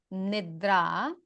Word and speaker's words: nidra: that can be helpful so yoga nobody really mispronounces yoga So yoga and then the next word nidra means sleep.